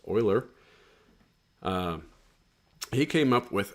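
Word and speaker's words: Euler: Uh, everybody's going to want to say Uler. Uh, his name is actually pronounced Oiler.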